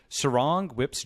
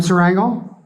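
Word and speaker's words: Surangel Whipps: of Palau, and please tell me if I'm pronouncing this correctly, Surangel Whips Jr., and also William Wang, who's the founder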